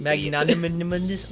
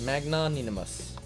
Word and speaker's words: magnanimous: to be a little Moree monogamous magnanimous you magnimous I'm tired yourself how is it that I'm pronouncing word magnimus she said it just like I did magnanimous magnanimous she doesn't seem to know what the